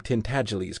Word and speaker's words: Tintagiles: to pronounce the name Tintagiles correctly. It rhymes with sneeze, and the accent is on the second syllable, and the G is soft.